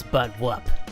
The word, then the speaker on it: Buttwump: Glad you could join us, Sergeant Buttwump. That's Buttwump. The M is silent.